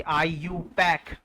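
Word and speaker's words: IUPAC: आईयूपीएसी आईयूपैक इस हिसाब से इसको उच्चारण करते हैं, आईयूपैक।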